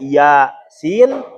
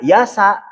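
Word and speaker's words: يس: Ya, ketika ada ee ayat awalnya ya sin jangan dibaca yasa tapi muqataah ya sin.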